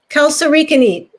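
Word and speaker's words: kalsarikännit: Really quick, I want to talk about this Kal-Sari Khanate, and however it's pronounced. Kal-Sari Khanate.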